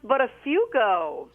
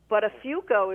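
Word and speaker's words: Buttafuoco: It's Listen, it's pronounced butterfo. Uh, come again. Butterafo is the last name.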